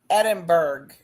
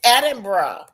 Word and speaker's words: Edinburgh: Edinburg. Edinburg. Edin. It's Edinburgh.